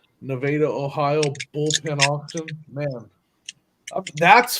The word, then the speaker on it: Nevada: to it's called it's spelled Nevada but they pronounce it Nevada Nevada Ohio Bullpen auction man that's fun I you